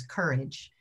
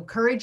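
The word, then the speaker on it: CoREJ: racial equity and justice it's spelled c-o-r-e-j it is an unconventional spelling of the word courage but it works phonetically and i think it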